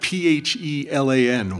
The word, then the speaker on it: Phelan: It's spelled P-H-E-L-A-N. Why it's pronounced Phelan, I don't know.